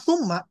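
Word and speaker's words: ثُمَّ: Tapi yang harus diperhatikan dari tsumma harakat sinnya, harakat t-nya. Karena tsumma ketika tulisan seperti ini bahasa Arab tin dan mim tasdid ini dibacanya bisa dua. Bisa dibaca tsumma, bisa dibaca tamma.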